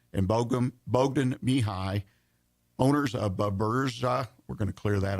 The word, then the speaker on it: Buburuza: Buburuza.